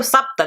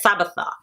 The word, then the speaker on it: Sapta: When I tell them Sapta, they're like Sabatha.